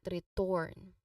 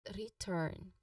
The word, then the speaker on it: return: It's basically return, not return, but return. Okay, the stress is on re.